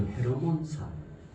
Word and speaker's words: 헤르몬산: 이게 많은 학자들이 이스라엘에 가면 가장 높은 산, 이 산, 시편에도 종종 나오는 이 산을 헬몬산, 발음도 헤르몬산.